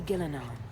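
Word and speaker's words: Ghilan'nain: That would be Gillanon mother of the hall. Oh sorry. Gillanon. I keep calling her Gillan.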